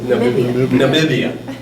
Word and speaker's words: Namibia: So when we left Cape Town, we were going to go to a country that I always mispronounce, Namibia? Namibia. What is it? Namibia.